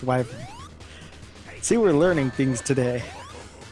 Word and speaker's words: Wyvern: giving me OC OT it's it's wyvern wyvern well yeah either wyvern or wyvern work if I'm not mistaken it's not wven though I've never heard wyvern